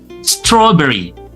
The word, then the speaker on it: strawberry: Ada perbedaan antara British English dengan American English. Jadi kalau di British English dibaca A. Kalau di mohon maaf kalau di American English itu dibaca E.